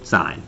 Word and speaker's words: sin: like oh sin a sin B just just say sign all right you got